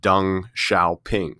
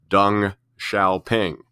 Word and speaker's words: Deng Xiaoping: 17 years, a man by the name of Deng Xiaoping. So yes, that is how you pronounce that name there that you see at the top of the slide, Deng Xiaoping.